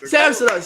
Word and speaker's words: Samsonov: Samsonov.